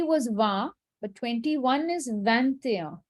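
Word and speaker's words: vingt et un: the chat 21 is van there so 20 was va but 21 is van there you pronounce the t because it's followed by a vowel i've written it in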